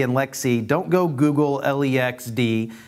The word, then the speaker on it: LXC: no idea when we say Lex D and Lexi don't go Google le XD it's lxd and lxc but it's pronounced in the community as Lex T and